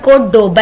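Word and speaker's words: Córdoba: और बेसिकली ये word कोर्डोबा है, मतलब बी के साथ प्रोनाउंस होता है, वी की जगह पे बी होता है, लेकिन जब हम इसको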